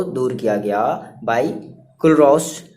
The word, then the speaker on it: Kohlrausch: तो अब इस प्रॉब्लम को दूर किया गया बाय कुलरॉस लॉ से, ठीक है, KOHLRAUSCH, ठीक है, इस स्पेलिंग है।